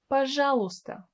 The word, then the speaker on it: пожалуйста: It may seem that this word is really difficult to pronounce. It's not really. Just make sure that you don't pronounce a letter Y. So you just say, пожалуйста, пожалуйста.